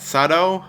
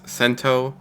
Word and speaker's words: Sento: we find out that sato the one who's the kamen rider in this series saves a fugitive actually i was wrong it's pronounced sento anyways we find out